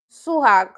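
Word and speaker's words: 수학: The first syllable is the third syllable and the second syllable is the first syllable. So she's correct. Oni. Oni. Number 2 is for Ruby. I'm not. Suhag.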